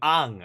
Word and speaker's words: Aang: Ang. I'm calling him Ang. It's because in Korea, like, like the way the vowels are pronounced, that's what I'm going by.